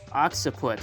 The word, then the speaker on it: occiput: Occiput.